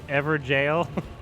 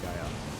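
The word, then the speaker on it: Evergaol: It's pronounced Everjail. Blythe and Everjail. Oops. Yeah, it is Everjail. But it's more fun to say Gael.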